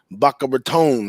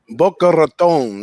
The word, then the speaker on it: Boca Raton: the ucf going into baka baton ain't that how you say it big ragu boca raton right there in the in the rat's mouth right but um after